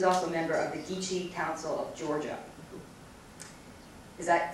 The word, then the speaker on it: Geechee: She's also a member of the Geechee Council of Georgia. Is that pronounced right?